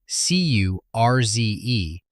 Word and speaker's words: Curze: His tormentor, Konrad Curze, k o n r a d c u r z e, is Konrad Curze.